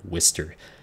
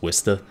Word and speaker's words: Worcester: ship the tier 10 Wistar yes that's that's how it's pronounced if like thankfully I don't have my accent anymore otherwise its Wister but uh yeah it's